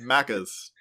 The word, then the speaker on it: Maccas: And then McDonald's is Maccers. Mackers. Yeah. But it's spelled Maccas. Maccas. Yeah. That's amazing. I'm probably saying it a little too American, but it's probably Sure. Maccas.